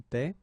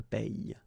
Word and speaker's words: paie: So between this one, je paie, and then some persons can pronounce je paye.